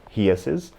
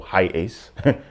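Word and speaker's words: HiAce: most of them are toyota heeses or high ace depending on how you uh you pronounce it and the one great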